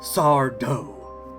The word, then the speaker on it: Sardo: He gets wrung out by the shop owner, Sardo. No mister! Accent on the dough.